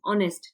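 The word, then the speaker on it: honest: देखते हैं यहां पर ऑनेस्ट है जो स्टार्ट हो रहा है हमारे पास with silent H meaning it began with vowel sound ऑनेस्ट ठीक है तो यहां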